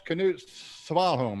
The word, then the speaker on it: Knut Svanholm: Did I pronounce the name right? It's Knut Svanholm, right?